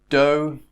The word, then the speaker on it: dough: So although and though, O pronunciation. Dough is a mixture of wheat and water, flour and water.